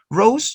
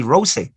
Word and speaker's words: rose: Rose, you don't pronounce the letter E. You don't say rose. No, rose.